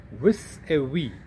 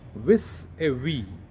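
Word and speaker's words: vis-à-vis: to see in a couple of examples it's pronounced as with a we i repeat with a v and it means in relation to with regards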